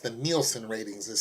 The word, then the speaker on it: Nielsen: about the ratings now I called it the Nelson but it's actually pronounced the Nielsen ratings as spelled in IE LS and it's